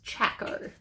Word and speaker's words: Chaco: There's no L for like chalk, it's Chaco.